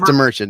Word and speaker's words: DeMerchant: Yeah, it's DeMerchant. It's just like it's spelled.